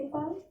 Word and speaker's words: पाल: My name is Swati पाल। पाल पूरा बोलो, लय पूरा है।